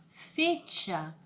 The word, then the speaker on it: fecha: natura de matemáticas a outra palavrinha fecha como se diz aqui né mas espanhol se pronuncia fecha fecha acidente de hoje na